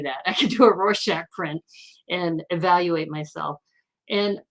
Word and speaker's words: Rorschach: which by the way i looked it up i'm supposed to pronounce it rorschach and you know i